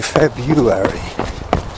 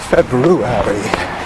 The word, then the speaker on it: February: The number of people who say February is unbelievable. But apparently it should be pronounced February.